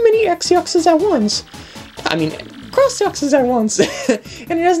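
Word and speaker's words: X-Yux: X-yox. Actually, they're not pronounced that way. You'll see. That's an X-yox. I heard this is read as cross-yox, not as X-yox.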